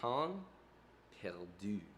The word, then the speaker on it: pain perdu: I believe it's pronounced pain perdu, which sounds Pain like perdu.